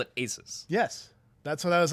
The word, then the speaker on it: Asus: Asus. Is that how you say that? That's what I've been told Okay. it's pronounced. Because Asus. I for years I called it Asus.